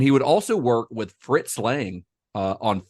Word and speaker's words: Fritz Lang: He worked a little bit later because like M was Fritz Lang's, or Fritz Lang, I think is the actual pronunciation, but M is his first sound film.